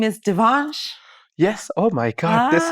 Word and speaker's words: Devansh: month ago yeah approximately and your name is Devon yes oh my God this is correct just making sure I pronounce it correctly and uh so tell me Devan how did you find out about Sunday slips